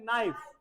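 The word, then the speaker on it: knife: पढ़ो बेटा now read जब आपको स्पेलिंग बोलनी है बेटा तब तो क्या बोलोगे के एन आई एफ ई लेकिन जब इसे पूरा वर्ड को बोलोगे प्रोनाउंस करोगे तब बोलना है नाइफ देखो जैसे मैं बोल रहा हूं के एन आई एफ ई नाइफ okay तो ध्यान रहेगा फर्क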